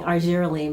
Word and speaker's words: Argireline: there's issues with pronouncing argireline but I'm pronouncing it like Victoria Principal used to do if you remember Principal Secret and her reclaim our jerene line so yeah this Serum